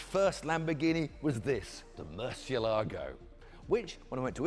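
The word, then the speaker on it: Murciélago: YouTube, I asked the PR lady how to pronounce the name. She told me Murcielago. So I used that. When I came back to Britain, I found nobody else was saying that. They're all saying Murcielago or Murcielago.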